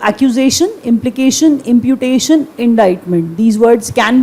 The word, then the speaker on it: indictment: एक वर्ड और लिख लीजिए, इंडाइटमेंट, the pronunciation of the word, get it right. मैंने कहा इंडाइटमेंट, वर्ड क्या है, इंडाइट करना, किसी पे इल्ज़ाम लगाना, इंडाइट करना, किसी पे इल्ज़ाम लगाना, इंडाइट।